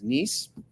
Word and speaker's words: Nies: Our last name is Nies, Nies, but nobody pronounces it correctly. They call us Nice.